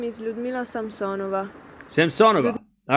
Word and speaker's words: Samsonova: Yeah, see, I'm even butchering Samsonova.